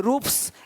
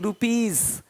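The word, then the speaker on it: rupees: जैसे कि यहाँ पे रूप्स, यहाँ जा साउंड नहीं आएगा, लेकिन यहाँ पे एक्स नहीं एग्स। हीरोज, हीरोस नहीं, देख रहे हो, रुपीस नहीं रुपीज, ज का साउंड आ रहा है हल्का सा।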